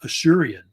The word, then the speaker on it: Assyrian: You know, a lot of people say Assyrian, but some people think it's actually pronounced Ashurian because of the actual origin of the actual name of the city.